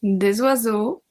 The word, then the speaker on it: oiseaux: We obviously don't pronounce the X, un oiseau, des oiseaux, un agneau, des agneaux, un agneau, des agneaux.